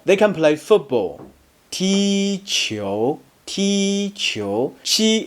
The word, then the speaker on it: qi: Qi is similar to chi in cheese, but you need to pull the corners and mouth straight back to pronounce it.